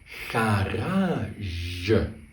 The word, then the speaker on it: garage: Garage.